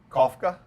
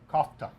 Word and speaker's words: kofta: but it's it's called what say it right Kafka kofta kofta Costa right and and it's more of